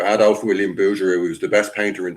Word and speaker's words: Bouguereau: Some people call him Bouguereau, but I don't like the way they call him Booger. But I pronounce his name Bouguereau. Adolf William Bouguereau, who's the best painter in the world in history, and they tried to destroy him.